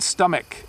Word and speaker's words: stomach: And then stomach, it's like a K sound at the end.